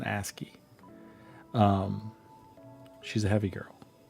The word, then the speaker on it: ASCII: She's a asy. Sorry, it's an asy. I always have to I always say it wrong. It's an asky.